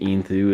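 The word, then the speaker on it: Enthoo: The case is the Fantex Inthu Lux, and I would prefer to pronounce it Intho, but I believe Inthu is seeming to be what people go with, so we'll replicate that.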